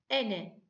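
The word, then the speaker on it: أنا: ayrık özne zamir imiz Ena diye yazılır ama okunurken ene diye okunur bir dikkatimiz daha var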